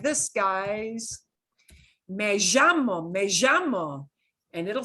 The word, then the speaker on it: llamo: Do not do the strong zh thing, because that is very, very regional and specific to one region. So when you hear, or when you want to say my name is, it's me llamo. And it can be me llamo or me llamo. I have that little j thing in there.